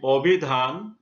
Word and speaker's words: অভিধান: আর দোয়া অনু হবে অনু, অভিধান হবে অভিধান, সংবৃত উচ্চারণে ওকারের মতো হয়েছে।